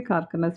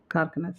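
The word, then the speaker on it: Kharkanas: I say Karkanas because it's closer to the Kannada word Karkane. So Karkanas.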